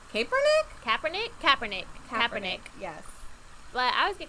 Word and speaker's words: Kaepernick: How do you say his last name? Colin Kaepernick. Kaepernick? Kaepernick.